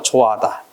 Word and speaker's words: 좋아하다: 이때 울림과 울림소리 사이일 때는 묵음이다. 그래서 좋아하다.